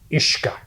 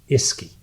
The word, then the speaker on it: Uisce: So took that first word, Uisce, and looked at it. And phonetically, if you don't know how to pronounce it, and you look at the word U-I-S-C-E, you might pronounce it Iski.